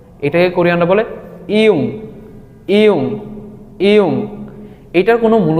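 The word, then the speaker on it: 이응: এটাকে কোরিয়ানরা বলে ইয়ুং। ইয়ুং ইয়ুং, এটার কোনো মূল উচ্চারণ নেই, কিন্তু এটার বাচ্চিমের উচ্চারণ আছে।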